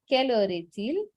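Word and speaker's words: quelle heure est-il: also written the spelling in the chat so keller ethel what time is it literal translation is what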